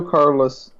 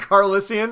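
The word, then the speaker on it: Calrissian: Does Lando Carlos... No. Carlissian? Yeah, sure. I almost said it wrong.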